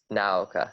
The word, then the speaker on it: Naoka: I agree with you because like, especially as you said, with oh my god, how do you pronounce her name? Naoka? Naoka, thank you.